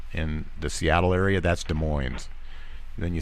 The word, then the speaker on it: Des Moines: Des Moines uh it's it's spelled the same way but you say Des Moines you Indians need to